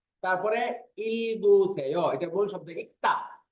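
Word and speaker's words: 읽다: তারপরে ইলগুসেয়, এটা মূল শব্দ ইক্তা, ইক্তা, এটার বানানটা আমি আমার ছাত্রদেরকে শেখাই এইভাবে, যেহেতু এটা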